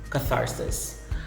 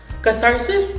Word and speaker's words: catharsis: thesis or thesis and the last example of the word with the voiceless th sound is catharsis catharsis catharsis is a way of